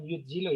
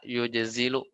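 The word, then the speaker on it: يجزل: memberi dengan murah hati yajzilu bukan bukan yudzilu ya ajzala berarti ya lebih tepat bacanya Ya Afan harusnya ajzala yujzilu ya diralat ya harusnya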